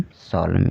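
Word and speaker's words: solemn: भी एन साइलेंट है क्योंकि वर्ड के अंत में एम के बाद आया हुआ है इसलिए एन साइलेंट है ठीक है तो डैम कॉलम ऑटम सोलम इसको इस तरह से हम पढ़ेंगे चलिए आज के लिए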